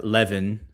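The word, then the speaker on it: Levin: is that uh, Mark Leaven, I see people in the chat saying I need to I need to call him Mark Leaven. I guess rhymes with heaven.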